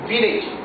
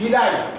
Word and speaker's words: village: La semaine passée, je vous ai dit, ici, les anglophones prononcent le mot village. Mais en français, ce n'est pas village. En français, c'est village.